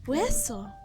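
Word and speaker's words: hueso: You don't really pronounce the H in Spanish. Gosh, now I'm getting self-conscious. I haven't said I haven't said this word in 5 years. Wesso.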